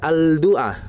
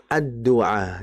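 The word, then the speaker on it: الدعاء: Nah, kalau dimasukkan alif lam maka dibacanya adua artinya lamnya bukan dibaca alduah melainkan adua.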